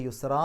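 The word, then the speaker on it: يسرا: നിർത്തുമ്പോൾ എന്ന് പറഞ്ഞിട്ടാണ് നിർത്തേണ്ടത് കാരണം ഫത്തഹ് തൻവീൻ ഉള്ള ഒരു പദത്തിൽ പാരായണം അവസാനിപ്പിക്കുമ്പോൾ ഫത്ഹ് ആക്കിയിട്ട് രണ്ടക്ഷരം നീട്ടുക അതുകൊണ്ട് യുസ്റാ എന്ന് പറഞ്ഞിട്ടാണ് പാരായണം അവിടെ നിർത്തേണ്ടത് അംറുല്ലാഹി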